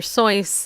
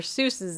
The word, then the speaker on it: Seuss: away with saying wrong like doctor sois I suppose doctor sois is really how you pronounce dr. Seuss's name but everybody always pronounce it dr. Seuss and if I was dr.